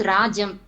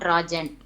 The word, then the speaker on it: Rajam: Sir, her name is Rajam, not Rajan. M. Correct. Rajam, correct. Rajam. Because Rajan means boy.